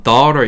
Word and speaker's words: daughter: daughter 중간에 있는 GH는 묵음.